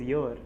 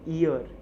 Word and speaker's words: your: certain period so period the pronunciation for your is like your is your and not ear ear is this so a